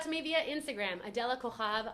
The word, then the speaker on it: Cojab: Reach out to me via Instagram, Adela Cojab. I know it doesn't sound like it's spelled. My last name is Cojab with a J.